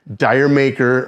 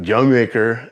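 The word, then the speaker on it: D'yer Mak'er: But mainly, if you wanted to get the girls dancing to Zeppelin, you put on Dire Maker, or actually it's pronounced Jamaica, as according to the band.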